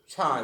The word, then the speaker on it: chi: Pronunciation is chi, CHI.